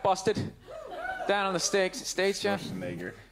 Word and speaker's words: Schwarzenegger: Schwarzenegger. That poor bastard, huh? That's how you say his name.